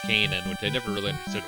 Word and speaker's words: Canaan: Guess the biblical one is pronounced Kanan, which I never really understood why it's pronounced canon.